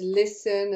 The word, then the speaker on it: listen: word listen and there's that lovely silent te in there as in there's listen and castle and whistle and you know so